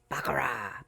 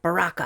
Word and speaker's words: Baraka: Bakar. Baraka. I keep pronouncing it wrong.